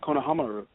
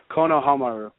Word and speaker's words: Konohamaru: saying you shouldn't say any negative comments about Konohamaru you need you can only mention nice things